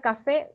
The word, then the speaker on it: café: cierto y taller jardín ahí tenemos la palabra café separada en sílabas tiene dos sílabas y la última sílaba es fe y la penúltima es K Entonces dónde recae la sílaba tónica en fe cierto y tiene